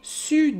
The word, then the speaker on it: sur: Fait que Vincent dit « Février, sud des skis ». Il prononce pas le R.